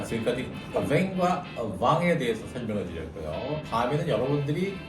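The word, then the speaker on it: vin: 하지만 여러분 현재 가시면 뱅이 아니라 왕입니다.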